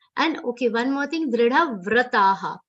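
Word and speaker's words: दृढव्रताः: And okay, one more thing, dridha vrataha. Here, va is half, r sound is complete. Do not say it like vru. Vra, vra. A matra should come with r, ram kara.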